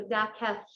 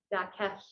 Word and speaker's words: Dakelh: of different ways, but that's that LH is so just like Dakelh, safely. So safely, it kind of sounds like a K, kind of sounds like an H. It's a different sound.